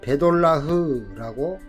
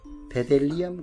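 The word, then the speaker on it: בדלח: 베델리엄, 발음은 베돌라흐라고 읽습니다. 베돌라흐. 한글 성경은 베델리엄이라고 했는데요, 히브리어는 베돌라흐 이렇게 읽네요. 이 보석은 민수기에서 만나와 연결된다. 민수기 11장 7절, 만나는 가시와 같고 모양은 베델리엄 같더라.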